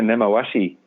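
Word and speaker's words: 根回し: Yeah, Nemawashi. Yeah, no, it's spot on. It says he who has no deep expertise in speaking Japanese at all, because Nemawashi is a Japanese term.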